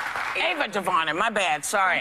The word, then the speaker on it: Ava DuVernay: Selma director Anna DuVernay. Ava DuVernay. My bad. Sorry. Pronunciation. I'm sorry. What is that? That said Anna. Oh my God. It's not Anna. It's Ava, y'all.